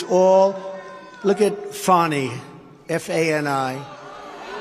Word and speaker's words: Fani: It's all, look at Fani, F-A-N-I. It should be pronounced Fanny. Fanny. Fani. Fani. They say she gets very upset if you call her Fanny.